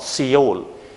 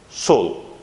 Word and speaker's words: Seoul: This is the pronunciation. Seoul. It's not Seoul, but Seoul.